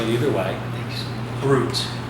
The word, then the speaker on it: brut: Brut, that's brut, it's not brut. Although, you're with some Frenchmen, they'll say brut.